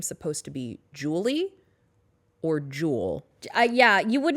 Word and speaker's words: Jule: Yeah, it's Jewel, as in like the e-cigarette.